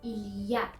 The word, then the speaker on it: il y a: تلفظ درست اسم من هست ایلیا. اگر بگیم ایلیا این غلطه، ایلیا.